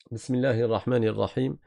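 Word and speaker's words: بسم الله الرحمن الرحيم: Alors ici une erreur qui est très courante, c'est que les gens ne mettent pas une vraie kasra au niveau du ha et au niveau du noun. Ça veut dire ils vont dire bismillahahmanahim bismillah ils vont dire bismillahahim ou bien quelque chose de entre le i et le bismillahahmanahim non c'est hi et ni bismillahirahmanirrahim je répète bismillahahmanirrahim répétez après moi.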